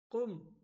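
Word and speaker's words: قم: গেদি গাদির না কাদিম কুম কুম অর্থ দাঁড়াও বা দাঁড়ানো কুম অর্থ দাঁড়াও বা দাঁড়ানো এখানে ভুল করে থাকে বলা হয় ঘুম ঘুম না কুম হবে একদম শুদ্ধ শব্দ নিসফ এখানে নিসফ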